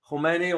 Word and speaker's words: Khomeini: Now, there's a big pronunciation difference here. Khamenei, the current one, Khomeini was way back.